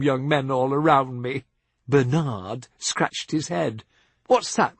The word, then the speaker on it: Bernard: But, if I say so myself, a rather handsome young navigator from Hackensack, New Jersey, called Bernard, which he pronounced with the emphasis on the second syllable, asked me to dance.